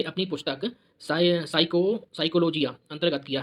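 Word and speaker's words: psychology: साइकोलॉजी लिखते क्या आता? पी आता पहले, पी। तो पी इसमें साइलेंट है, इसलिए क्या कहते हैं?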